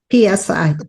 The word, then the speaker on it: psi: And when I say psi, it's the Greek letter psi, the 23rd letter of the alphabet, and PSI. PSI, yeah, and it's pronounced psi.